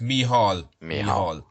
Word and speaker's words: Micheál: good afternoon T afternoon Michael great to be on your show yeah same to you and my name is is pronounced mihal yeah fine so tell